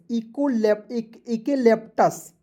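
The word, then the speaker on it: eucalyptus: ECUA, देखिए यहाँ पे EU, देखिए यहाँ पे EU है तो आपको एक ही उच्चारण करना है, क्योंकि जब दो भवेल एक साथ रहेंगे तो एक का उच्चारण नहीं करते, क्लियर। CALYPTUS इकेलेप्टस, ठीक है, इकेलेप्टस।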